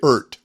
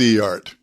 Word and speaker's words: Eart: I've learned there's no real consensus on correctly pronouncing this awkward brand name. Some say Ert. Some say Er-T. And some say Eart. Well, I'm going with Eart because what it stands for is electro-acoustic art, and Eart seems closest to me.